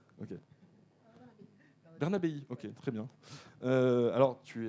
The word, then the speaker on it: Bernabé: Bernabé, c'est comme ça qu'on le prononce? Bernabé. Ok. Bernabéi, ok, très bien.